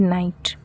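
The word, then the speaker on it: knight: मतलब होता है योद्धा यहां पर के साइलेंट होगा इसे हम बोलेंगे नाइट और यह वाला नाइट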